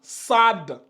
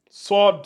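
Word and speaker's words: صاد: il y en a ils vont lire ça Sade sad mais l'objectif on doit on doit sentir le haut ça doit donner s s je peux même rajouter un deuxème ici si je veux souvent dans la madrassa je rajoute de un a pour que les gens voient réellement dans différen ça donne sord SOD c'est tu ouvres bien la bouche tu donnes SOD SOD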